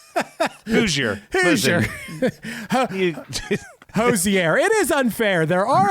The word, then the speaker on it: Hozier: Hoosier. Hoosier. Hozier.